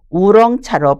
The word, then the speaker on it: 오룡차: 구부러진 구슬 모양의 차 오룡차는 중국 발음으로 우렁차로 불러요 오룡차는 중국의 복권선과 강동성 대만에서